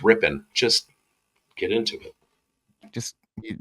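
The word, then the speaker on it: Rypien: I just want to say good on you, Mike, for pronouncing Brett Rippon's name correctly. This week I've heard Ripien and Ripon, and it's not hard, people.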